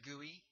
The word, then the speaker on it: GUI: it's it's got an acronym GUI GUI it's pronounced GUI and so you might hear somebody talking about